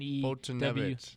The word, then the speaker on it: Foltynewicz: The WICZ makes a V. No, that's witch, not vitch. Because then you don't have the. How do you get the? It's not sound at the end. It's not American, so it's not supposed to sound like the letters.